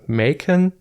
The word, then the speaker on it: Machen: Then I bought The Great God Pan and Other Stories by Arthur Machen, I think. I'm German, I would pronounce it Machen, but since he's British, it's probably pronounced Machen.